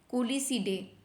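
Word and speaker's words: Culicidae: नाम याद रखना इसको जैसे भी आप प्रोनाउंस करो कुलसिडे इसको आप बोल सकते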